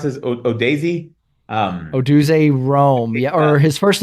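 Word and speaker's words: Rome Odunze: Rome, how do you pronounce this? Odaisy? Oduze Rome.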